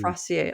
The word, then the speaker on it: Fraser: No, it's Fraser. It is pronounced Fraser. Like razor.